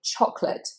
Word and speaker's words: chocolate: It's said with a schwa. Chocolate. It's only 2 syllables, and that middle A is not pronounced, so we just say chocolate, chocolate.